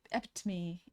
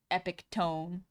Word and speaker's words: epitome: You're the epitome epome.